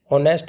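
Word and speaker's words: honest: देखिए नाइफ में हमारा यहाँ पर के साइलेंट है, ऑनेस्ट में एच साइलेंट है, एप्पल में कोई भी साइलेंट नहीं है, और डाउट में हमारे यहाँ पर बी साइलेंट है।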